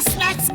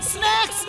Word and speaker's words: snake: सांप को स्नेक बोलते हैं, स्नैक्स नहीं। स्नेक की स्पेलिंग होती है SNAKE और SNACKS। ये स्नैक्स होता है।